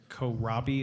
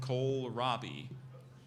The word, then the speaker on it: kohlrabi: of origin it's from an originally German word Kohlrabi is can you pronounce it again coal Robbie can you say it can you say it again yes could you say it again kohlrabi can you say it again Kohlrabi sounds good